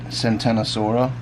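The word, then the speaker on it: Ctenosaura: Genus Tenosaura. I think some folks pronounce that Centenosaura.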